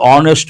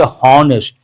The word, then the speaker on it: honest: And a typical example honest man. People say hest. No horse sound. H is silent.